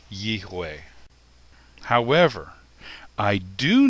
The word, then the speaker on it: Yahweh: Another piece of evidence is that Arabic, which is almost identical to Hebrew in its alphabet, does not have a Vav, it has a Wa, and it's pronounced with a W. It's possible that the V sound may have come from a Germanic European influence. So rather than Yehweh, it would be Yehweh.